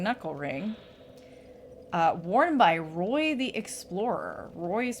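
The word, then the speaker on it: Rhoy: Uh, worn by Roy the Explorer. Roy is spelled R H O Y.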